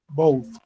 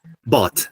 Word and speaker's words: bought: Both. Bought. The pronunciation is bought, okay? Both. Bought. So, because if we say boat, is that bote, it's yate, it's like a, you know, that transportation method, right?